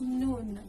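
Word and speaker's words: نون: That's noon. The noon is pronounced just like the English N.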